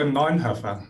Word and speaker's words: Neunhoeffer: How is it actually pronounced? It's a Neunhoeffer. Neunhoeffer.